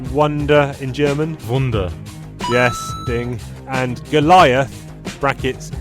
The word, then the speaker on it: Wunder: No, I'm going to take a guess that this might be how you pronounce wonder in German. Wunder.